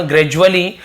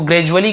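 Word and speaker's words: gradually: ग्रेजुअली, अब ग्रेजुअली है ना, डुअली नहीं पढ़ेंगे, ज ऐसे उच्चारण, ग्रेजुअली, तो ग्रेजुअली का मतलब होता है धीरे धीरे, क्रम से, क्रमानुसार, धीरे धीरे से ग्रेजुअली बोलते हैं।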